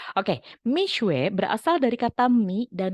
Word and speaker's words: Mixue: Nanti tolong koreksi kalau saya masih salah nih pelafalannya karena memang saya taunya Mixu kalau dulu, tapi ternyata harusnya Mixue gitu. Oke, Mixue berasal dari kata mi dan shue dalam bahasa Mandarin.